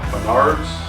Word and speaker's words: Menards: I think it's Huntington, West Virginia, to a Menards, that's how you say it, see what we can find there.